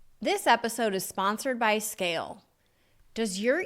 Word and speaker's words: SCAYLE: You know your platform stinks, so visit Scale today. That's SCAYLE. Yes, the Y is silent because you never have to ask why Scale isn't performing.